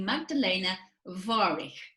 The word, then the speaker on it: Magdalena Warych: And today I'm talking to the lovely Magdalena Warych. I think that's how you pronounce it, isn't it, Magdalena?